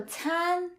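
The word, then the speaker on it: 餐: Make sure to not pronounce the C sound in Chinese as the K sound because the C is never the K sound. It's the T as in the Z in pizza.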